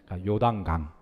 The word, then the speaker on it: 요단강: 따라서 하십니다 어떤 강이라고요 발음 잘하셔야 됩니다 중간에 단자 때문에 요강이 됩니다 요단강 이쪽 내려오는 물주기가 요단강이래요